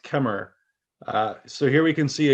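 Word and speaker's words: Khmer: cambodia i've got queen i think it's pronounced kemmer so here we can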